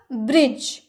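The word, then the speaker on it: bridge: ब्रिज, अभी हम लोगों ने देखा ना ब्रिज, इसके लास्ट में भी ई है लेकिन ई का उच्चारण हुआ नहीं हुआ, जी का ही सिर्फ उच्चारण लास्ट में हुआ, ब्रिज।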